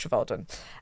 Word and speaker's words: Trevaldwyn: Um, but it is pronounced Travaldwin.